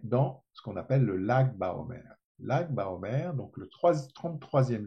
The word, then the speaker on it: Lag BaOmer: Lag Baomer, ça se prononce.